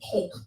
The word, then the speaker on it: choq: Spell it again. CHOQ. Hoke.